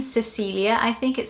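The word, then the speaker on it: Cecília: And the way that you'd say it in the English language would probably be Cecilia. There would definitely be the emphasis on the Lia, which in Portuguese it would be more Cecilia. but not Cecilia.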